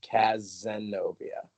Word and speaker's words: Cazenovia: it just, the Z is more emphasized. Cazenovia. Casanova.